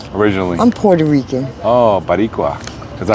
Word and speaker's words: Boricua: Oh, Baricua. Is that how you say it? Mm-hmm. Boricua.